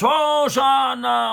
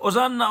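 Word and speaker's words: הושענא: Hoshana, Hoshana. Que les non-juifs, ils ont traduit, c'est intraduisible, mais ils ont gardé la prononciation, ils ont dit Hosanna, Hosanna.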